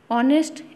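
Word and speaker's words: honest: नेक्स्ट, ऑनेस्ट मैन नोबलेस्ट work, ऑनेस्ट H silent है, vowel है, sound singular है, countable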